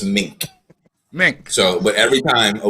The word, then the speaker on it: Meeink: here's the fine thing you pronounce my last name as every man will say you pronounce it like the animal and every woman will say you pronounce it like the coat it's just mink so but every time